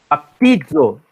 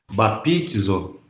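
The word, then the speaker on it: βαπτίζω: Baptizo. Tenta de novo. B-A. Pronuncia. Batizo. Isso. Thiago. Bapitizo. Não. É piti. Piti. Batizo. Vai, Thiago. Batizo. Não. Baptizo. Bapitizo. Não, você, ó, aqui, ó, é P-T-I, é piti.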